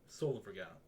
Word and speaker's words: Solivagant: It's like solo vagrant, Solivagant. There's no R, so it's fucked up.